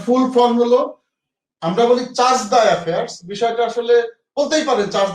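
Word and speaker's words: chargé d'affaires: সিডিএ এটার full form হলো, আমরা বলি চার্জ দ্য অ্যাফেয়ার্স, বিষয়টা আসলে বলতেই পারেন চার্জ দ্য অ্যাফেয়ার্স অনেকেই বলে, কিন্তু মূল যদি আপনি এটা ফ্রেঞ্চ শব্দ যেটু চার্জে দ্য অ্যাফেয়ার্স, যারা ফ্রেঞ্চ পড়েছেন বা আইআর এর স্টুডেন্ট বা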